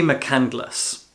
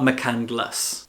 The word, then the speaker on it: McCandless: That man is Archie McCandless. That's how his name is spelled in the book, but in the film, his name is pronounced McCandles, not McCandless.